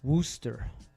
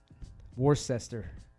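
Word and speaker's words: Worcester: what's it called uh Wooster War sester they get mad at you it's it's spelled war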